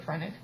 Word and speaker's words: phrenic: the granite it's not the phrenic nerve not friend egg phrenic pronouncing it wrong really